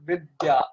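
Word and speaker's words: विद्या: So you pronounce it as Vittaya, right? Yeah. Okay, so what I've observed in Thai is that there are no consonant clusters. So in Sanskrit it is Vidya. So the is half pronounced. It is combined with ya. So Yeah. Vidya. While in Thai it is you have a vowel in between. So Vittaya. Right.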